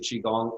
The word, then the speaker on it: Qigong: first of all U chiong is spelled qy g n g a lot of times people want to spell it um Chi which is The Logical way of spelling it don't you know but